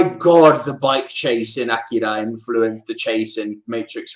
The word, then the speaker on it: Akira: And then the tech knows that it is pronounced Akira.